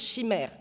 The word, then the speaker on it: chimère: In France, it's chimère.